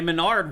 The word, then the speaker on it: MenaRD: So anyway, Menard won back to back. Mena RD. Is that how you say his name? I always call him Menard. Yeah, he's Mena RD.